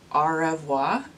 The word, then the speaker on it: au revoir: my favorite shade is au revoir I'm pretty sure it's pronounced R evoi it's spelled one way but it's supposed to be pronounced like the French words but that's enough I'm